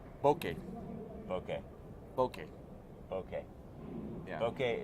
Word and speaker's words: bokeh: team Boca or team bouquet bokeh okay okay okay yeah okay it's not bouquet it's not a bunch of flowers or anything like that and it's not Boca okay okay okay it Rhymes okay okay yeah it's